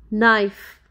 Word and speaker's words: knife: letter and its rules letter K is silent before n let's look some examples knee Neo knife not no knowledge